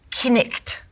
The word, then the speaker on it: knight: The word knight, knicht.